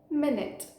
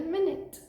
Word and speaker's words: minute: just said it minute but that is one of the pronunciations of this word minute when when you are referring to it as a unit of time for example I shall be ready in a minute the other pronunciation for this word is minute when you are referring to something as Tiny or small so for example we